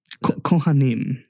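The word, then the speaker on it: כהנים: ahead and just apologize in advance if I'm pronouncing this wrong. You were saying that you were the Kohanim? Kohanim.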